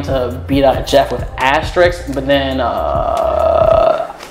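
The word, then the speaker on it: B.Jeff: jeff but it was supposed to be pronounced b jeff like literally b period jeff but everyone just kept saying b dot jeff just call me b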